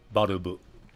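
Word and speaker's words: バルブ: It's interesting how Valve is pronounced Barubu. Doesn't really sound like Valve that much to me.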